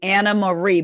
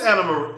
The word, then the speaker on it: Anne Marie: She said it's actually Anna Marie, but spelled the Dutch way, Anne Marie. Also, it is Anna Marie. Oh, it is Anna Marie.